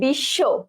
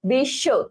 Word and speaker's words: বিশ্ব: ওকে, আচ্ছা সো দেখো, আচ্ছা বিশ্ব, বিশ্ব, তাহলে শেষে ছিল, শেষে, তাহলে শেষে কি হয়েছে, ব ফলা উঠে গেছে, তালব্য স দ্বিত্ব হয়েছে।